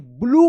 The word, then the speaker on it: blue: हैज, HAS हैज, अ BLUE, इसको क्या पढ़ेंगे? ब्लू पढ़ेंगे, ब्लू। यहाँ पे यू का उ उच्चारण हो रहा है और ई जो है ना साइलेंट है, ब्लू।